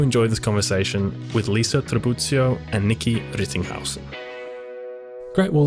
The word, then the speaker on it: Tribuzio: And thank you for the right pronunciation of my surname, which is often mispronounced in the Australian context. What do you normally get? I get Tribbiano, probably because people watch a lot of Friends. There's no N in there.